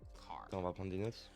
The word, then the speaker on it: char: Chars. So chars are used for variables that will store single characters. Char, short for character. Some you might hear people pronounce it as car.